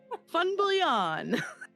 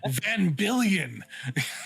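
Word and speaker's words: Van Biljon: do you pronounce that fun billion from billion huh yeah the v is an f the j is a y yeah yeah i i always i always read it on twitter as van billion yeah that is super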